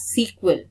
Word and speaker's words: SQL: where we use sql i use sql but it is pronounced as sequel or structured query language